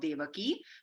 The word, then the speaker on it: Devaki: error here I apologize it's devaki it should be a long I I'll correct that next time one day paramanandam basically means the Supreme Joy of devaki devaki is the name